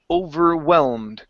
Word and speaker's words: overwhelmed: And your last one here is overwhelmed. Okay, give me a good V into a W.